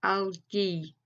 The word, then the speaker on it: algae: So first of all, I think there's 2 syllables, and AL would be al. Now, I have actually come across this word before. It's algae, okay? The latter bit there, G-A-E, it doesn't necessarily, you don't feel comfortable saying ghee, but the word is algae.